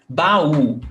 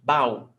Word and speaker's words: baú: Yes, baú, 2 syllables. Yes. So that's interesting because if we think that baú is pronounced bow, then it wouldn't have the accent, right?